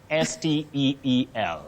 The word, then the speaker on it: steel: Still, S-T-I-L-L. Still, not steal. Still is the pronunciation of S-T-E-A-L, Kuiba, and Chuma, S-T-E-E-L. Yeah. So S-T-E-A-L and S-T-E-E-L are homophones, and you pronounce them with a long sound E.